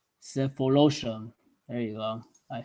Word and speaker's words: Sefolosha: Uh, My apologies if I mispronounce this name. It's Sulushofa, Sefolosha. Cephalosha.